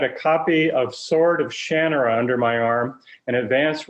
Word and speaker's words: Shannara: right way to say the title is shannaranat shannara which reminded me conversation i had with ray bradbury somebody else had mispronounced his famous book title as 451 and and he said no it's fahrenheit 451.